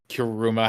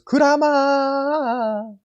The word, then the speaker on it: Kurama: like Kurama or Kuruma, however you pronounce his name. Well, if you ask Naruto, is Kurama.